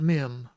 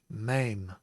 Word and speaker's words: mem: Even Alan, I think, said mem, but it's not mem. Naturally, you can see the spelling in the Hebrew by the Nicodot. It is mame.